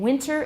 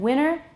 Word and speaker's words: winter: The T is lost and a nasal tap occurs. This has resulted in winter and winter and panting and panning being pronounced in the same way.